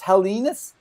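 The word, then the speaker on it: Helenius: go go find now it's helenus is the way that you're going to pronounce his name and and it's actually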